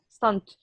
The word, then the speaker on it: stunt: Stunt. You pronounce the last T.